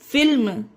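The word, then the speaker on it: film: फिल्म, एम से पहले एल है फिर भी इसे फिल्म पढ़ेंगे।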